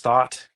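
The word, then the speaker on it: Thoth: It's almost like a thought with an H. Oh, yeah. It might even be pronounced thought.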